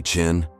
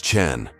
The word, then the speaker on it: Chen: "Chen? Is that supposed to be Chin?" "Chen?" he mispronounced deliberately, looking to his colleague with a smirk. It's Chen, Marcus corrected politely. Like Chen Gi in challenge.